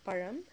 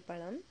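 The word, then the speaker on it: பழம்: Tani fruit is param again the ra sound so param if you really can't pronounce it it's okay to say Palam um not the best way but we understand you're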